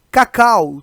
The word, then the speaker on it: cacau: E cacau, também é outro erro flagrante aqui, né? Aqui na última sílaba deveria haver um ditongo decrescente aqui, ó. Cacau. O U deveria estar na mesma sílaba do A.